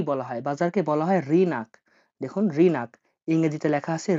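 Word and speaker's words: рынок: বাজারকে বলা হয় রিনাক। দেখুন রিনাক, ইংরেজিতে লেখা আছে রি নাক, রিনাক, রিনাক মানে হলো দোকান, রিনাক মানে দোকান।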